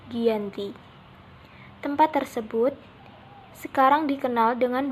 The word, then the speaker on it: Giyanti: Dalam pelafalan Belanda, ia tersebut sebagai Ianti, dan secara tertulis, ia terbaca sebagai Giyanti.